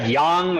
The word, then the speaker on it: Yonge: It's like Yonge, or it's spelled in a different way or something.